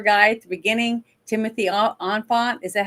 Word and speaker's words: Olyphant: And the gentleman that ended up being the drug dealer guy at the beginning, Timothy Olyphant, is that how you say his name? Oliphant.